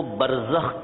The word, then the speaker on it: برزخ: کو برزخ کہتے ہیں، با جس کو بے بولتے ہیں اردو میں، را جس کو رے بولتے ہیں، پھر زے، پھر اس کے بعد خے، یعنی جو اردو تلفظ ہے اس کے مطابق برزخ۔ یہ برزخ ایک عالم